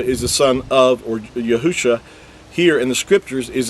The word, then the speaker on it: Yahusha: the coming Mashiach, Messiah, is spelled with 5 letters, which translates into Yahusha, and that's the original text. Now again, with vowel points, it's going to say Yahushua, and that's because they vowel pointed and added an extra